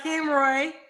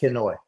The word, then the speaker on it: Kenoi: right so we got Ken Roy I'm saying it right right quit messing my name upo I know I keep add yeah you keep adding R kenoi you know I'm dyslexic